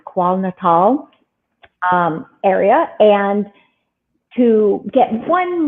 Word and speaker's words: KwaZulu-Natal: And I asked him if he would also go to South Africa, to Thula Thula, Zululand, which is in, I think it's pronounced KwaZulu-Natal area.